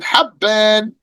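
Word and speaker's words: حَبّان: And like Hibban with the kasra on the ha and Habban with the fatha on the ha.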